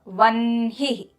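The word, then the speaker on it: वह्नि: So the na comes first and then the ha. Vanhi.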